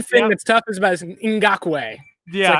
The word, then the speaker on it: Ngakoue: Oh, Yannick Ngakoue. That's the one thing that's tough is about Ngakoue. Yeah, it's the N is silent.